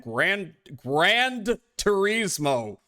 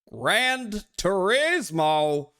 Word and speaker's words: Gran Turismo: 1 Championship Edition and Grand Turismo. Grand Turismo. Did they spell it? Yeah, they spelled it wrong. There's no D in Gran Turismo. What the hell? Gran Turismo.